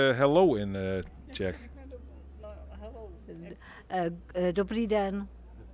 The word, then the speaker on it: Dobrý den: Dobrý den. Dobrý dan? Dobrý den.